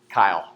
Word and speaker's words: chyle: Kyle, right? C-H-Y-L-E, right? My name, Kyle. But C-H-Y-L-E, that's how it's spelled, Kyle. So what you're seeing then, you guys, is that those chylomicrons, when they're absorbed in the lymph, they form fatty lymph, which is called chyle, right? It's spelled like chile, okay?